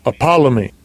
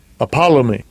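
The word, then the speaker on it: ἀπόλλυμι: The pronunciation, or the phrase are lost, the pronunciation in the Strong's G. Strong's G 622. Apollomy. Apollomy.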